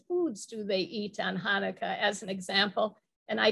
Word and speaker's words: Hanukkah: as Christmas he said I'm not sure how to pronounce this is chanuka and I said oh it's pronounced Hanukkah he said how do